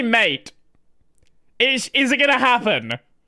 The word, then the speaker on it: MATE: Mate is the correct way to pronounce it. If you want it to be mate, put a accent on it.